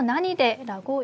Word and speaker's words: 何で: 자, 여기서 나니데라고 읽었는데요. 사실 구어체로는 낭이라고도 읽을 수 있습니다.